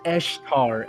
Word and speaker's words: Easter: The thing about it is pronounced Eshtar. It's because it's Eshtar Day.